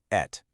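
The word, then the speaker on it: את: It's pronounced "et".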